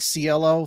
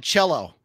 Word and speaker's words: Cielo: Cielo, three syllables. That sounds very Italian.